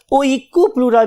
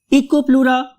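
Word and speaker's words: Oikopleura: इको, eco, right, eco and then प्लूरा। बहुत से लोग इसको याद करने के लिए ओइकोप्लूरा भी कहते हैं, राइट, इकोप्लूरा और ओइकोप्लूरा, जो भी आपको अच्छा लग रहा है।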